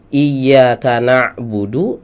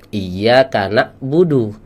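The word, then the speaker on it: إياك نعبد: yang mirip ini tertukar Hamzah ketukar sama Ain ya harus nya iyaka na'budu dibaca iyyaka na'budu ya salah makhrajnya ya harusnya eh shathalladzina an'amta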